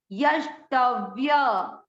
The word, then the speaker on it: यष्टव्य: तीसरा चरण, य पूरा है, य आधा श, यश, ट पूरा आधा व, ट, य पूरा, य में अ का उच्चारण मिक्स, यष्टव्य, यष्टव्य, यष्टव्य।